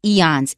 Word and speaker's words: eons: interesting word is eons you've got two vowels in there two consonants very short two syllables eons eons it means many many